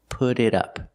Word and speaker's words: put it up: The T in put changes to a fast D, put it, and the T in it changes to a fast D, put it up, put it up.